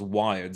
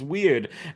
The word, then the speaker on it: Wired: came from 1976 and this was wired sometimes mispronounced as weird and this had a